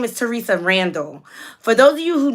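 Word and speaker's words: Theresa Randall: you who don't excuse me I said her name wrong her name is Teresa Randall for those of you who do not know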